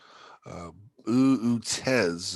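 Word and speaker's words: Boötes: Part of, let's see, Uutez is how it's pronounced.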